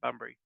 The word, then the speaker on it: Bunbury: Is it Bunbury?